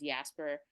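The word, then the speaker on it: IASPR: of popular romance or we abbreviate it and pronounce it as yasper um so it's a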